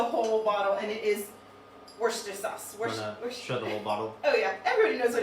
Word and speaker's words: Worcestershire: just a splash of worcestershire sauce which is worcester sauce i don't know i'm not from boston i'm